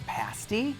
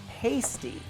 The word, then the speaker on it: pasty: help pronounce it correctly it rhymes with the word nasty pasty once you taste